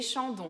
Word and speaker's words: Chandon: E na palavra Chandon a gente tem de novo o AN, que é o som de ON, que nem EN, EN, ON. E temos o ON, que é um som de com nariz, ON.